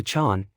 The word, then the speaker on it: Jean: and have called himself Gene Matthew he goes to overnia the local pronunciation turns gene into Chon he is called Sean Matthew our man offers no